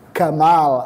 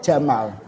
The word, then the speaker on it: Jamal: Mesir Gamal Abdul Nasir aslinya niku Jamal Abdul Nasir tapi orang Mesir E makhrajnya itu menjadi Gamal abdun Nasir itu padahal harusnya bacanya Jamal maka saya tadi bilang